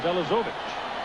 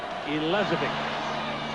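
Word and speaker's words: Elezovic: at for it but it's spelled phonetically in the Press book as elovich but it's pronounced for the family as elic he hits a lowline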